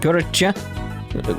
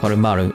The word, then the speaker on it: Koromaru: Oh, my bad, Korocha. Kuromu's, Koromaru.